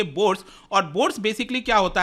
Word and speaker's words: Bourse: है सूरत डायमंड बर्स इसको प्रोनाउंस करेंगे बर्स और बोर्ड्स बेसिकली क्या